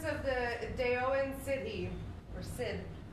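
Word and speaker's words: Sidhe: He's the prince of the Daoan city, or Sid, or Side, or however you want to say it. How do you say it? She. It was not she. S-I-D-H-E is she.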